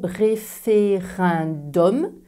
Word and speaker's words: référendum: exception dans le mot référendum. On a déjà vu que E plus N était prononcé un et pas en. Et U plus M est prononcé homme et pas un.